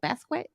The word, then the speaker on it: Basquiat: Basquiat. Basquiat. There we Yeah. go. What was I saying? Basquiat, like biscuit.